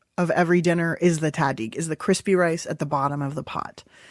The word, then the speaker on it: tahdig: Is that how you pronounce it? Of the tahdig. Tahdig.